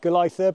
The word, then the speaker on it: Golitha: It's spelt Golitha, but it's pronounced Golitha apparently.